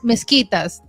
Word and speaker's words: mezquitas: I seen mezquitas in Mosque. Bogotá it's and mezquitas? mezquitas That's en how you pronounce español. it? Wow. Mezquitas, like you say, mosquito.